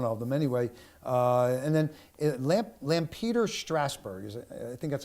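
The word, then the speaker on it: Lampeter-Strasburg: And then Lampeter Strasburg. I think that's how you pronounce it.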